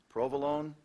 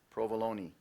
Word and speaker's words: provolone: cruising right along two pronunciations on this word as well provolone provolone Alonso ordered a calzone stuff with pepperoni and provolone provolone also pronounced provolone provolone p r o